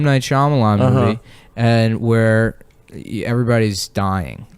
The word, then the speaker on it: Shyamalan: M Night Shyamalan.